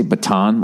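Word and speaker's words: Bataan: even said it wrong they say baton like what you twirl the Baton Death March it was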